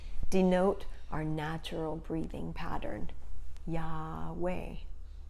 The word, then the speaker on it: Yahweh: our natural breathing pattern yahweh is like breathing and if we don't pronounce any of the consonants that is how we breathe so do it with